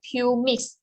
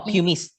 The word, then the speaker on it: pumice: enhancer so that is i'm not sure my pronunciation has a pure mix p u r m i c oh pumice yep yeah so can we